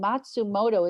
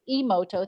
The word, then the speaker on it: Emoto: The Japanese, and I can always get his name wrong, Matsumoto is what I want to say, but I think that's not right. Yeah. Emoto, thank you.